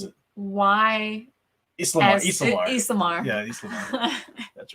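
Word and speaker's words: ysalamiri: Spell it for me and I'll tell you how to pronounce it. Islamar. Yeah, Islamar.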